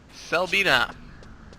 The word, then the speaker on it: Selbina: Selbina. Which I know is pronounced correctly, because I like this place.